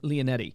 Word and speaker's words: Leonetti: So like Matt, how do you pronounce his last name? Leonetti.